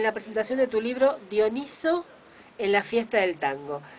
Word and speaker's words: Dioniso: V explicaste nuestro día que era dioniso y no Dionisio Eso es dioniso porque se acomoda mejor a la pronunciación griega es un nombre griego